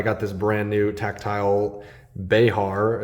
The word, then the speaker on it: Behar: I'm not gonna put tactile knives on the spot here, but I got this brand new tactile Behar, is what I've learned it to be pronounced, Bear or Behar, over the weekend, and it came super dull from the factory.